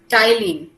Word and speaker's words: ptyalin: Saliva contain a starch splitting enzyme, जो कि क्या है नाम उसका, टाइलिन। ओके इसका प्रोनाउंसिएशन टी से होता है बट it starts from P, सो PTYALIN, ये आपका नोट्स में है।